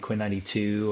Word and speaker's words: Quinn XCII: For the last like 5 or so years, I've been with an artist named Quinn 92 or Quinn XCII is how you spell it.